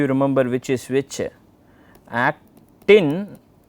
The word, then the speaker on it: actin: remember which is which at-tin is thin then the other one is thick and myosin stick so actin rhymes with thin okay that's how you